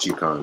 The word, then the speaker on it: Qigong: It's actually pronounced Qigong.